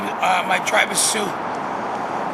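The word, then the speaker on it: Sioux: your tribe my name is uh my Travis Sue how do you spell that s-i-o-u-x soon and originally from which part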